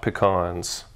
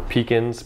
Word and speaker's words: pecans: 18 grams of chopped pecans or pecans pecans depending on yeah pour it in there depending on how you pronounce it where you live now mix that in